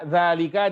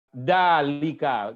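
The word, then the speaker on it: ذلك: Umpama saja, zalika dibaca dalika. Enggak pakai zal.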